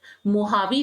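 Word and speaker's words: Mojave: पे है मूवी dessert आपको लग रहा होगा स्पेलिंग से की यह तुम mujhaven होना चाहिए बट mujaven नहीं इसका करेक्ट प्रनंसीएशन मुहावरे डेसर्ट है राइट यहां पर पड़ता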